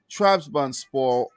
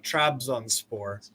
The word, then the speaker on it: Trabzonspor: Trabzonspor defeating Zvezda there, and Monaco losing to Ferencváros.